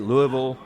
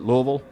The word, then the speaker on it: Louisville: it I say it Louisville you know you kind of roll it Louisville how do you say